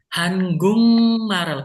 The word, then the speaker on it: 한국말을: Hangungmarel. Karena G ketemu M itu eng. Hangungmarel. Kemudian bukan ko tapi gung.